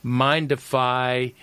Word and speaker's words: Mindify: He also has an app, which I mispronounced, and he rightly corrected me. It's Mindify Hypnosis Apps, and has millions of downloads.